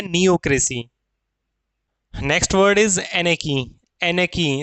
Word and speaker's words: anarchy: Next word is एनेकी। एनेकी, इसका pronunciation में ध्यान देंगे। इट इज नॉट अनार्की। अनार्की नहीं बोलते इसको, ना अनार्ची बोलते इसको। इसको कहा जाता है एनेकी।